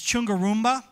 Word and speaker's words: Chungarumba: It's Chungarumba is the way that you pronounce it.